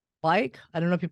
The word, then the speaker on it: Bike: from Sao Paulo, Brazil, and they are called Bike. I don't know if you pronounce that correctly.